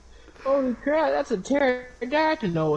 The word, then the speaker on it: pterodactyl: It's like, it's a pterodactyl. The P is silent.